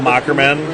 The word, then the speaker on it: Moherman: Facebook, just Mockerman, and that's Moherman, that weird hard H that sounds like a K.